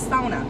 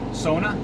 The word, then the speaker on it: sauna: You didn't say it right. It's sona. Sona.